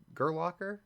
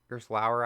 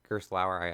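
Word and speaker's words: Gerstlauer: So I think that there's a Gerlocker, or Gerslauer actually, sorry, Gerslauer, I completely butchered that ride, and then, which is the spinning coaster, and this kiddie one.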